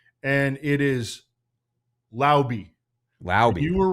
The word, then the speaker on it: Laube: And I saw a video of Dylan Laube actually himself pronouncing his name, and it is Laube.